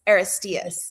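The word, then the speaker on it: Aristaeus: So, it's spelled A R I S T A U S, but it's pronounced Estas. Aristas.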